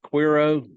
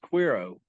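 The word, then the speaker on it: Cuero: or something like that or yeah uh it's pronounced quiro Texas how dare you sir it's it's SP with a c oh okay but it's pronounced quiro okay and uh it's it was a big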